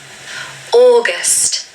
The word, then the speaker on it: August: But I'm here to tell you that it's just the word or. So you want to say the word or and then gust. There's a schwa at the end. So gust, gust, August.